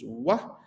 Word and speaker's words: و: So we have this following letter, which is wah, similar to pronunciation to O, but with little low pitch of sounds.